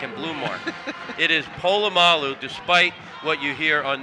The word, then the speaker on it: Polamalu: man in there was seen apollo cena palomolo better pronouncing polamalu or al said he's